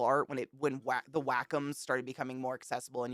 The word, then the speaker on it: Wacom: had to have a Wacom tablet Wacom we looked up you actually pronounce it Wacom which I [ __